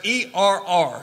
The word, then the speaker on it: err: error from the truth that's err some call it ER maybe that's a better pronunciation I don't know a error is like a i r but that's not not the word here the word is err to ER from the truth notice Earth